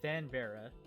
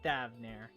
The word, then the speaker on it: Thavnair: We seek passage to Thanvera. What the fuck? Oh my god, I'm just stupid. I literally forget how it's pronounced already.